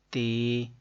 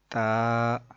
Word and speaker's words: ت: بتا رہے ہیں کہ حروف مفردات کو تجوید و قرات کے مطابق عربی لہجے میں ادا کریں، اردو تلفظ سے پرہیز کریں یعنی کہ بے، تے، سے، ہے، خے، توئے، زوئے وغیرہ ہرگز نہ پڑھیں بلکہ با، تا، سا، حا، خو، تو، ظو پڑھیں.